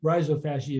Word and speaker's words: rhizophagy: as the rhizophagy system it's pronounced differently by other people but rhizophagy is how I say it you're going to end